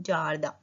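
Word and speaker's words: jardin: गार्डन को बोलते हैं जार्दा. ज आर दा. आई एन का साउंड तो जार्दा. अ लेक.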